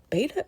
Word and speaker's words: beta: Beta, is it beta or beta? I think it's both pronunciations are fine, but I always say beta. Uh I'll probably say beta.